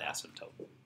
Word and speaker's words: asymptote: for a vertical and it sounds like a kind of like a nasty word that you shouldn't say but it doesn't have two S's it's an asymptote it's a Greek word